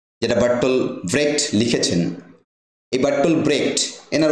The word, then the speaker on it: Bertolt Brecht: German মানুষ ছিলেন তো আমরা বার্টল ব্রেক করবো ব্রেকটাই সবচেয়ে একসেপ্টেড বাটল ব্রেকের লেখা গুড